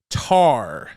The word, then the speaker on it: Tár: review which will be tar and yes that's how it's that's how it's pronounced with the accent over the a it's an ungoogleable film